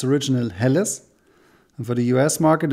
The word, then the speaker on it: Helles: a lager beer but we in germany say it's a helles or a hell beer so that's why yeah